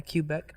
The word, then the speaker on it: Quebec: Yeah, Quebec.